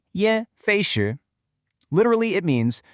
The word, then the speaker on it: 噎: The second character is ye.